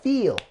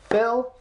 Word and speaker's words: Phil: homophone with this feel it's not a homophone of feel it is not Phil Phil feel so this is how they say my name in Russia so if I do